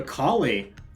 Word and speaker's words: Kali: Now, we have a Kali, or Cali, depending on how you'd like to pronounce it.